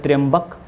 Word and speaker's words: त्र्यंबक: नासिक में ये पश्चिमी घाट में त्र्यंबक बोलते हैं इसको, सही जगह जो सही नाम है, प्रोनाउंसिएशन है वो है त्र्यंबक।